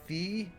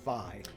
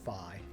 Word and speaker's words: Fi: of saying that the Japanese term, or wherever it came from, that it comes off sounding more like Fi. so it's Phi, and I was saying Fee myself, so now I'm going to say Phi from now on.